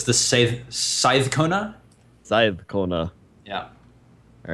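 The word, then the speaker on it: seiðkona: Now that special character in the middle there, it's pronounced like a TH. So it's the Scythe Kona? Side Kona. Yeah. All right. Scythe Kona.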